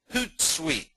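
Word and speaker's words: Hootsuite: get good coverage the next is consider using hoot site that's pronounced hoot site like like an owl hoot hoot hoodu is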